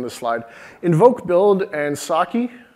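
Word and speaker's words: psake: Invoke build and Saki, the P is silent for some great reason, are like test and build runners.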